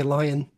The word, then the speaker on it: Lyon: lion is it like leon yeah here here in america would you say lion lion okay when i